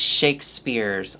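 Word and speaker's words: Shakespears: Twitter and was like it's Shakespeare's like Britney Spears okay well do you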